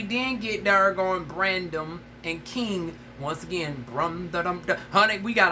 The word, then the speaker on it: KXNG: Okay, so on from that, we then get darn Brandon and King. Once again, honey, we got all these darn not Brandon, but Brandon and King, but it's spelled KXNG.